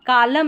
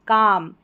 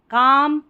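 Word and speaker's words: calm: Stood near a, कालम नहीं, काम, L silent है, काम।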